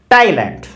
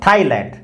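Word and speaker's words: Thailand: इसी प्रकार से ये देखिए टाइलैंड, नॉट थाईलैंड, टाइलैंड। तो क्या याद रखना है, यदि प्रॉपर नाउन TH से स्टार्ट होगा तो TH टे साउंड लेके आएगा, थे साउंड नहीं लेके आएगा।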